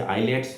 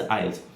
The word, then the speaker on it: IELTS: अ लॉट of people से आइलेट्स, God knows what एल्स, बट the correct pronunciation is आइल्स, IELTS।